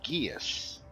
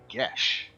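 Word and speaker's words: geas: looks like it says guias actually i think the gaelic word or something like that because it's it's pronounced gesh uh so when i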